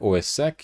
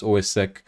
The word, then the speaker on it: OSSEC: on those systems now I am going to be calling OS SEC OS Sac you can also you know uh you know you can also pronounce it as ossec whatever works for you foreign so what